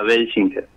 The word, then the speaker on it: Welschinger: Como como puedas pronunciarlo está bien, pero se pronuncia Beler. Belinger.